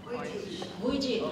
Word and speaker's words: Vujicic: How do you pronounce his name, Sheila? Vujicic, okay.